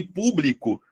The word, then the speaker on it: público: Sílaba tônica de público. Qual é? Opa, antipenúltima.